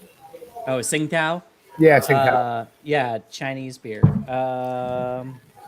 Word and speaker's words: Tsingtao: I don't know how to pronounce that. Tsningtao. Oh, Tsingtao.